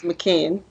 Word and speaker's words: Makin: Amir Makin, which I think I just pronounced his last name wrong again, and I asked him what it was. It's McKinn. So would you please introduce